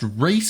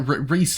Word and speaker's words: Riise: Next up, I believe it's pronounced Riise. I'm pretty sure it's just like Riise. I think it might be Riise.